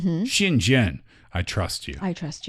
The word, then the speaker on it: 信任: And 信任, that's for trust.